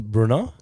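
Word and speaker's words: Brno: We are uh we're in Bruno. Have you have if I pronounced that right? Bruno is okay.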